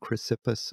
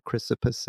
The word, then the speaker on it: Chrysippus: by clianthes and and chrysippus or chrysippus i've heard it pronounced both ways and they are of